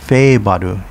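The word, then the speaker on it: Haebaru: naha city pronounced nafa in uchinanguchi is the capital of okinawa prefecture shuri is part of naha city hayabadu pronounced fei badu in uchenanguchi is the only district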